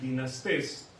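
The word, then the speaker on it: δυνάστης: Y pongo esta palabra, dinastés, de donde viene la palabra dinastía. Aquí está en griego, aquí es como lo podemos pronunciar, dinastés.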